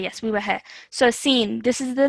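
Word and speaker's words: سين: Sa. Okay, try again. Okay, this is the letter seen.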